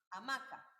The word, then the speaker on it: hamaca: Por ejemplo, hamaca, la cual recae en la sílaba ma, hamaca.